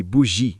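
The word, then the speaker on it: bougie: Ela me via como B. Pronuncia-se bugi, gíria para burguesa ou classe média alta, o que eu achei muito divertido.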